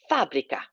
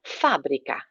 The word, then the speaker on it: fábrica: La fábrica. Accent on the A. La fábrica.